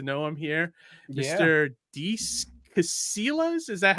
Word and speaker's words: Casillas: Deece Casillas. Is that how you say it, Deece? Casillas.